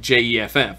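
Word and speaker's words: Geoff: decided it's spelled Jeff it sounds like je FF right Jeff yeah and now some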